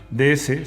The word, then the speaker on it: DS: Y además, DS se pronuncia igual que DS, es decir, diosa.